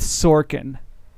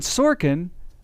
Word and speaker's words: Sorkin: a sample um and sorkin rhymes with porkin parking is making pork